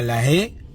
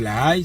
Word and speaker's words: La Haye: Maintenant, Madame Marie-Madeleine Borancho, ancienne présidente de la Cour constitutionnelle, est à La Haye. D'aucuns disent La Haye, c'est pas La Haye, même si ça s'écrit A-Y-E, aux Pays-Bas.